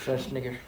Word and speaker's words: Schwarzenegger: Schwarzenegger.